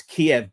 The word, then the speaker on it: Kiev: in in, uh, in Kiev, it's Kiev, by the way, in English, not Kev. Um I mean why don't we say Muskva and Munchen you know um Kiev had 12 dead.